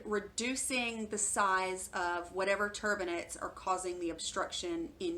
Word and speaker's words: turbinate: if you need a better explanation that it's turbinate tu r bi na te looks like turbinate so septoplasty and termina traduction refers to straightening up your septum and reducing the size of whatever turbinates are causing the obstruction in your nasal passages